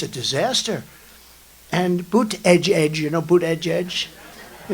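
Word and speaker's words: Buttigieg: And they said, Boot Edge, the word edge. That's the way it's pronounced, Boot Edge.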